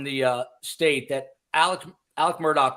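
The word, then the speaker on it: Alec Murdaugh: that does not think the pronunciation Alec Murdock is strange that I found out last night it is uh Scottish uh the the uh you know Genesis of that pronunciation so uh but we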